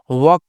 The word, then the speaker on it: work: वी को, यानी यहाँ पे वी को हम वी नहीं पढ़ेंगे, बल्कि यहाँ पे क्या इसका उच्चारण करना, व, तो WORK क्या पढ़ना है इसे, वर्क पढ़ना है, क्या पढ़ना है, वर्क पढ़ना है, ठीक है ना।